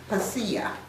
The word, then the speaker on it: Hsia: Now the name, I guess you pronounce this Hasia, Hsia, means the people, and was first applied to people of Honan province.